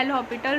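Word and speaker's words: L'Hôpital: एल हॉपिटल rule क्या होता है, यहाँ पे s जो होता है वो हमारा साइलेंट होता है, तो इसको हम बोलते हैं एल हॉपिटल रूल।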